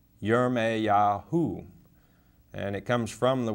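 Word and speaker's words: ירמיהו: it's strong's 3414 and it's pronounced in the english yeremeya or yereme yahu and it comes from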